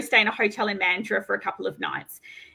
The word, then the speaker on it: Mandurah: Well, first of all, we pronounce it Mandurah, and Mandurah.